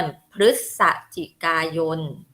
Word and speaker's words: พฤศจิกายน: คะ เดือน อะไร คะ เรา จะ อ่าน ว่า เดือน พฤศจิกายน นะ คะ กับ อีก เดือน